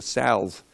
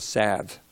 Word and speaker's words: salve: I was on the salve, but it's a salve. The L is silent.